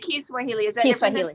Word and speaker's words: Kiswahili: key Swahili Swahili yeah you say it Kiswahili yeah no it's the same thing it's just that's the yeah that's that's really how you say it yes yes no